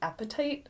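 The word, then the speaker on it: apatite: the softer ones um one that i really like is called appetite and it's spelled a little bit differently but i have an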